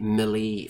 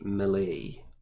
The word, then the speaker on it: melee: now which is the Millie phase or the melee or that Millie or the melee of heard it pronounced all of those ways but I generally say Millay so the Mele phase